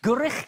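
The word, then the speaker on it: Gwrych: Hello, good evening, Noswith Da, and welcome to our brand new gatehouse studio here in the magnificent Gurich Castle.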